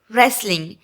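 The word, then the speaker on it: wrestling: Okay, then next यहाँ पे है रेसलिंग। इसमें WNT जो होता है वो साइलेंट होता है। ओके बच्चों, इसलिए इसे रेसलिंग पढ़ा जाता है।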